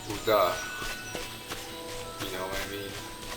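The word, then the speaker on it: Ul'dah: Like the city Ulta, it couldn't be Ulta, it could be, they say Uda.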